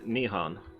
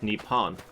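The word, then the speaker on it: 日本: the in their tongue is nihon at times of peace but at times of war or at sporting events is nippon i thought it was the nippon is the uh more martial way of pronouncing it because it's got a stronger sound in the center the h sounds too weak so they they deliberately corrupt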